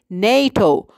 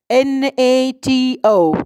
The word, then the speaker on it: NATO: acronym not an initialism because you pronounce it it as a word not as a sequence of letters so you say NATO not n 8e o you say NATO so